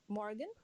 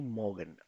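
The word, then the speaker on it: Morgen: Kiran Kiran we गेटफन मॉ्गन मॉ्गन मॉ्गन नहीं मॉर्गन आर को pronounce नहीं किया जाएगा ओके मॉ्गन डन हुमेरा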